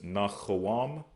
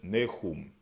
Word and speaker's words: Nahum: We pronounce as Nahawam. Nahawam, but they pronounce as Nahum.